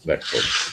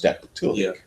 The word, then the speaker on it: dactylic: the last syllable, and a dactyl or dactylic has the emphasis on the first syllable.